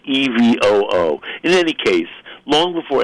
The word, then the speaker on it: EVOO: do they say evil I think she says Evo but it's spelled evoo e-v-o-o what would you say